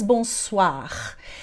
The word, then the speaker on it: bonsoir: gente vai dizer então bonsoir. Veja ali que o OI tem som de OA, mas você já sabia disso, porque você conhece a palavra toilette, por exemplo.